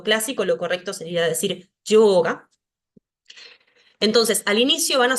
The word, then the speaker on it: yoga: en sánscrito es ya, si está al inicio de una palabra, se va a pronunciar como una Y, como una Y suave. Por ejemplo, yoga, yoga. No digo yoga como si estuviera diciéndolo con I latina, aunque en algunos casos,